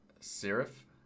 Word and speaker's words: Şeref: um let's see here okay so first up serif is how you say it from Istanbul freaking